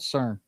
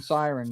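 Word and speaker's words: SYRN: It's called CERN or Siren. Is that what how it's supposed to be pronounced? Siren? Siren. Yeah, I keep saying CERN.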